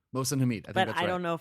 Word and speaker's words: Mohsin Hamid: I've been calling him Mohsin Hamid. Mohsin Hamid.